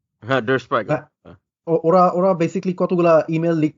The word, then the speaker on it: Der Spiegel: it's like Dar হ্যাঁ হ্যাঁ I হ্যাঁ I cannot pronounce the name, Dar Spiegel, right? হ্যাঁ, Der Spiegel.